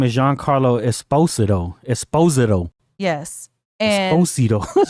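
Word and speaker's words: Giancarlo Esposito: then the next actor who we know as Gian Carlo Esposito because that's what we've been saying the whole time. But yeah, his name is Jean Carlo Esposido. Espostoido. Yes. And Esposito. Jean Carlo Esposido.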